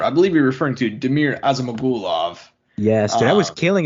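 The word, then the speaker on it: Damir Ismagulov: i'll i'll pick up the mantle for you damir osama gulov i appreciate it um 20 in one who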